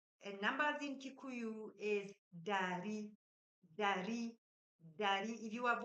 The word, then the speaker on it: ndari: And numbers in Kikuyu is dari, dari, dari. If you have watched our previous videos, you've noticed that dari has N, but the N is silent.